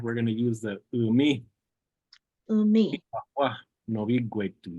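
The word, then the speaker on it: umme: You can just spell it U-M-M-E, umi.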